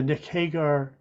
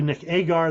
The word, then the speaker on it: Nick Agar: Neil Turner from Australia, Nick Hagar. It's really Nick Agar. They spelled his name wrong.